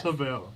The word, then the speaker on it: Havel: how do you pronounce it how do you pronounce it pavel miss havel yep yeah i'm a boy jv thank you